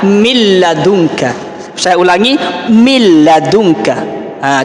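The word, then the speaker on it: مِنْ لَدُنْكَ: bertemu dengan Islam maka kita jangan membacanya seperti Min ladunka jangan tapi kita baca milladunka Saya ulangi milad udah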